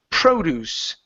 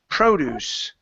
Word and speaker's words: produce: this word here is produce produce produce yeah the stresses that at the very uh very beginning now the difference here